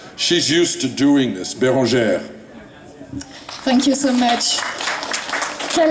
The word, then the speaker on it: Bérangère: How do you usually pronounce it for Americans? Because that's hard for us. Just Bérangère. I know it's Bérangère.